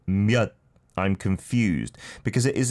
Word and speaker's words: 몇: So 몇 is how you should say it.